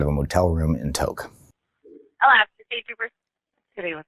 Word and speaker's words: Tok: We're talking about Tok, T-O-K, not talk like TikTok. It's spelled the same.